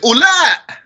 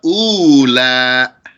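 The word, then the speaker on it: أولا: or feminine, you say ula, those, or these, without pronouncing that wow there. That wow is silent. It's not ula, it's just ula.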